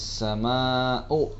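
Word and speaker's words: السماء: Pada ayat pertama bisa kalian perhatikan pada ayat idas sama'u. Nah, di sini ada sama'u, yaitu ada mat wajib muttasil. Ya, hukum bacanya harus dibaca 5 harokat. Jadi dibaca panjang idas sama'u.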